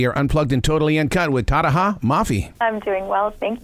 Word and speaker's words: Tahereh: them how to say my name, which is Tahereh, by the way.